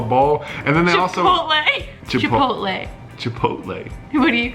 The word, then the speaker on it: Chipotle: Like Chipotle. I don't know how to say it very well. Chipotle bar. Chipoodle is what I actually call it because I can't say it.